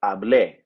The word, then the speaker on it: hablé: So to say I spoke, we had an E with an accent, pronounced as E. So hablé, I spoke.